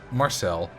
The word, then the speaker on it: Marcel: For some reason, my granddad always put the emphasis on the wrong syllable of my name. He always said Marcel instead of Marcel.